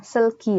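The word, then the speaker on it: 슬기: Kayak contoh misal artis Korea, misalnya namanya Seulgi. Jadi, misalnya kita mau baca namanya Seulgi ya, itu kita U-nya tidak terbaca, tapi hanya E saja.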